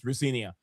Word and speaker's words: Rosenior: Liam Ria he also he said his dad said his right pronunciation of his name is Rinia.